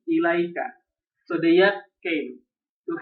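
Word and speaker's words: إليك: If attached to a pronoun, ala and ila are pronounced with ya. What? Here. Alaihi, ilaika.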